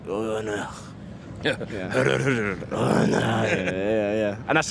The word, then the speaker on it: Urne: and I was like, I bet the Italians pronounce it with a bit of like sex appeal. And they were like, Urne. And I was like, Urne? And they were like, Urne. I was like, this disappointed me, Milan. But yeah, the Scandies pronounce it the best.